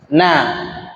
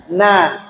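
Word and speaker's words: نَ: berharkat di atas apa kita baca Na bukan No kan bacanya Na bukan no ketika bertambah dengan syin yang bertasydid tinggal tambah Nas bukan nos nah ini yang yang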